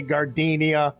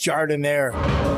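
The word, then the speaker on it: giardiniera: at me don't look all nervous and say gardenia it's pronounced jardin air liberals suck that's why we have clay and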